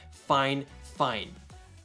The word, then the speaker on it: Fifine: honest opinion like always my contact over at fine fine did specifically say that is how you pronounce the name of this company fine fine I don't know how this becomes this but you know that's just the way it is so this is a